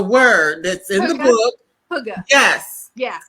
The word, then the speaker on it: Hygge: Hygge. Yes. Yeah. Say that again. Hygge. And it's spelled Hygge.